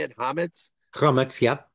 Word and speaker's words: Chametz: Chametz? Comments, yep. Chametz.